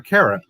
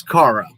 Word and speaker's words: Cara: of all you all it's cara i'm cara you all are saying my name wrong it was pretty funny